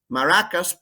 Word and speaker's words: maracas: i got my maraca maracas plural rhymes with caracas venezuela but this maraca is